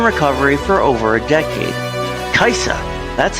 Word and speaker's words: Kajsa: Kajsa, that's how it's pronounced. Kajsa is all over the internet, Facebook, message boards, spreading hope, and we're so glad that we found her.